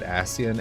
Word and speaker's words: Ascian: The closed captions translated Ascian as Asian. Because I think Ascian is A-S-C-I-A-N, I think. But it was like Asian, like Asian, just pronounced weirdly.